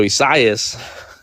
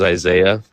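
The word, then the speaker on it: Isaías: So So Isaaias is the way I pronounce it to these West because they can't they can't say Isaaias. So, Isaas Isa is Spanish version of my name in English. So the English version is Isaiah and uh so I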